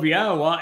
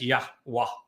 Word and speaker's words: Yahowah: In an effort to justify a mommy God who they could provide a voice, they came up with an amazingly foolish and inaccurate rendering, even pronunciation of Yahowah as Yahweh.